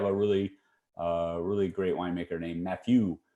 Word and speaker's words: Mathieu: But now they have a really great winemaker named Mathieu. I say it like that because he is French.